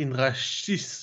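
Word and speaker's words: Indrašis: On a signé Mick Indrasis. Pascal, la prononciation? Alors, normalement, ça doit être Indrashis, puisqu'il y a un circonflexe retourné sur le premier S.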